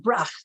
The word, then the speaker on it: Brach: So, you know, I noticed I had this surname of Brach, which is actually pronounced Brach, like there's a C, an ending H carries a C sound with it.